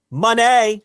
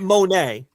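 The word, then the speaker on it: Moné: to give me one money is it Monday money money not even it's not money not Monet it's money say it rich Monet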